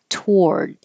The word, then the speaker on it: toward: code frantically and toward forget about the O we just skip it and say to toward and this is one